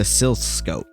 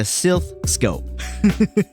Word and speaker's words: Silph Scope: you go up the tower before getting this mispronounce this before getting the silscope silf Silph before getting this for getting the Silph Scope it had one attack and that was curse